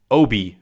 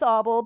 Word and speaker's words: Oble: It's Oble because it makes you want to wobble and it rhymes with cobble.